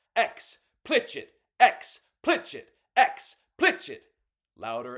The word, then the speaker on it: explicit: It's not pronounced explicit. It's pronounced xplitch it.